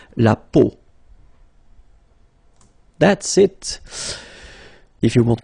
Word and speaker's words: peau: will have to pronounce when you've got these three vowels combined together, it's the sound O, okay, so really simple, O, okay, so you get la peau, okay, la peau.